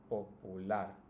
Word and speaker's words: popular: Now if you notice, it's also the last, right? The last syllable that's pronounced the strongest. Celular, familiar, particular, peculiar, and popular.